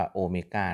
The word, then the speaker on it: Omega: ครับ พรุ่ง นี้ นี่ ตรง นี้ อ่าน ว่า โอเมก้า นะ ครับ ส่วน อ่า ตัว แปร